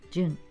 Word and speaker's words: 潤: 音読みが潤、訓読みが潤う、潤す、潤む。